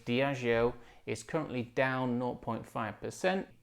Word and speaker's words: Diageo: is up two percent diageo not diego as i used to pronounce it incorrectly diago is currently down 0.5